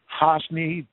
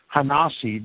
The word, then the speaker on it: HaNasi: i hyphen t-h-e space Prince Hosny excuse me I'm pronouncing it wrong hanasi the prince okay Babylonia remained the